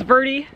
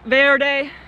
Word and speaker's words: Verde: to pronounce things is Verde like rhymes with dirty not Verde like you might say in a Spanish you have a great